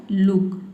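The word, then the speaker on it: look: जैसे कि देखिए यहाँ पे है लुक, लुक में देख सकते हैं डबल ओ के बाद क्या आया है, के लेटर आया है, ठीक है।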